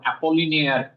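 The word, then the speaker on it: Apollinaire: তো এই গুয়াম অ্যাপোলিনিয়ার পিকাসোকে, হ্যাঁ ভোলারই হবে কারণ অ্যাপোলিনিয়ার, এটা এলটা উচ্চারণ হচ্ছে, এটা আমি জানি অ্যাপোলিনিয়ার, সুতরাং ওটা ভোলারই হবে, আপোয়াস ভোলার।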